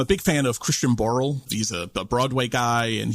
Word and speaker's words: Christian Borle: And so I pronounced it as Borley, Christian Borley, because that's how it's spelt.